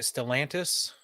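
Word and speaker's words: Stellantis: the first one the first article is uh stellan is that how you say it stalantis koi yes and that's how you say it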